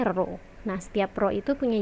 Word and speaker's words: rho: Nah, si P ini nih, P yang agak ngelengkung, bentuknya nggak P tegak gitu, jadi P-nya agak ngelengkung gitu, ini dibacanya rho.